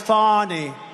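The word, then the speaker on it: Fani: f a n i fny you have to pronounce it fonny is called Fanny you have to pronounce fonnie I don't know how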